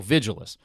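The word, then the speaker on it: Vigiles: I pronounce the name the same way you'd say vigilant, but with ant replaced by less. So Vigilus.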